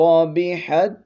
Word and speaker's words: ربحت: کے ساتھ ملانا ہے، یہ تا ساکن نہیں پڑھی جائے گی، اس کا تلفظ نہیں کریں گے، اس کا آگے تا میں ادغام ہو چکا ہے، ہا تا زبر حت